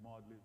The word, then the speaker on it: Magdalen: that energy and it looks like Magdalene it's pronounced modeling in college at Oxford University containing fragments from